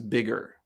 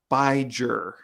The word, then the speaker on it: bigger: Really, it's about the pronunciation. So if we didn't change the spelling, the pronunciation of this word would not be bigger. It would be biger, right? Because a GE doesn't have the G sound. It has the J sound. So in order to keep the pronunciation bigger, we have to put an extra G. And now because there's two G's, it's pronounced G instead of J.